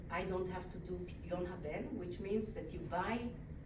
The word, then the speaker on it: פדיון הבן: So I don't have to do Pidyon Haben, which means that you buy your son back from the great priest.